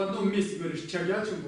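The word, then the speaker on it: ཕྱག་རྒྱ་ཆེན་པོ: Чагячимбо на восточном диалекте в Каме будет читаться как цагячимбо. И это иногда бывает, ну то есть это с непривычки может оказаться трудно. Не всегда сразу понимаешь, о чем говорят. Это же чагячимбо, то есть из Ц. В некоторых камских диалектах может произноситься как С, будет сагячимбо. То есть таким образом прочтение как чагячимбо, цагячимбо, сагячимбо. Эти три произношения могут встретиться в Тибете.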